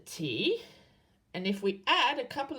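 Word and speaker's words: た: And how do you say T and A in English? Ta.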